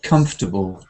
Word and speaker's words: comfortable: together first of all if you have an adjective like this word then the ending is not likely to be stressed so if you say comfortable oh it's old and miserable